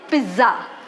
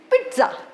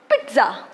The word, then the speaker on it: pizza: wrong we usually say pizza do not spell as per the spelling it is italian word and the first z in the spelling has t sound t so the correct pronunciation is pizza pizza meal is incomplete without